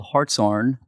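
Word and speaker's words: Hartshorne: Most probably can't pronounce it or spell it, but it's called Hartshorn.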